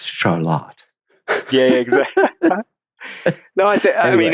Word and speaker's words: Charlotte: Here in Vermont, there's a town that I would call Charlotte, but for some reason, of course, we're right near Quebec. It's Charlotte.